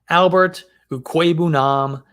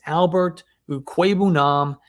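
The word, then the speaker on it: Albert Okwuegbunam: year my value is mr albert ukweibunam and yes that is how you say his name just look it up on youtube he himself pronounced it in a video when he was back in at uh missouri it's albert ue queben he's my favorite breakout tight end for 2022.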